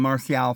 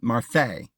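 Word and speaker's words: Marseille: a few miles from martial France well I guess they pronounce it Marse but it comes from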